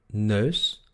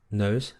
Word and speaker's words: neus: En holandés se pronuncia E, E, E. Por ejemplo, en las palabras neus o leuk. Neus, leuk.